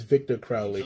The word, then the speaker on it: Victor Crowley: picked up a few cool pieces tony terrace victor crowley i hope i pronounced that right yes i did i needed